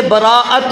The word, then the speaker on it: براءت: برات بھی کہتے ہیں، اس کے دو تلفظ ہیں، ایک ہے براءت حمزہ کے ساتھ اور ایک برات۔ جب حمزہ کے ساتھ